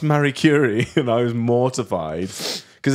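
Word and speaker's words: Marie Curie: first read through and I was like from Mar curri and they were like that was great um can we just do a check on it's pronounced Mary curri and I was mortified cuz as soon as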